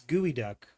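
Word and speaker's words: geoduck: but pronounced totally differently, right? I think so. Because that's Gooey Duck inspired Geodude.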